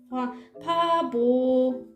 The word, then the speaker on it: per favore: 되면 소리 들잖아요 그래서 한국 사람들은 대부분 이렇게 발음할 거예요 아무튼 똑같은 모양으로 하죠 이렇게 말해요 바보래 여기 문제 글자는 여기에요 이거는 바보래 바보래